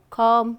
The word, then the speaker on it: calm: i have for you calm climb num so all have be silent right then there was